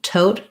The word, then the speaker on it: tote: The first T, tote, has a puff of air. The last T is unreleased. So it'll sound like tote.